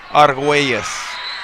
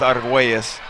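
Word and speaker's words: Argüelles: Correct pronunciation in the Spanish language would be Arguelles, but I don't know if it translates into English that way. We're going to go with Arguelles.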